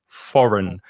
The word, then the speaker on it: foreign: then you are foreign another silent g foreign the first vowel sound is o and the second